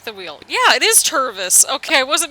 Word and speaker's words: Tervis: bottle jesus take the wheel yeah it is tervus okay i wasn't mispronouncing anything then a local tour business but